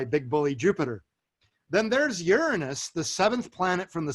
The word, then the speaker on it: Uranus: and pulled by big bully Jupiter then there's Uranus the seventh planet from the Sun and that is the correct pronunciation for anyone above the age of seven